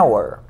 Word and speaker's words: hour: la H se pronuncia si esa H fuera muda como en el caso de hora Hour pues se diría an Hour pero en este caso